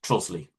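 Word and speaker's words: Trottiscliffe: Sharp wrote it as Trosley, but the more usual modern spelling is Trotiscliffe, but as far as I know, pronounced Trosley.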